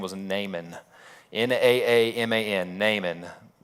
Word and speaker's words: Naaman: There's a couple other characters, and one of the other main characters, his name was Naaman. Naaman, Naaman. You might pronounce it, nah, man, maybe.